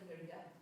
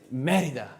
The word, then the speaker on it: Mérida: It's Mérida. I mean, people will understand you. The taxi driver won't go, I'm not bringing you. You didn't pronounce it correctly. There's an accent on the E.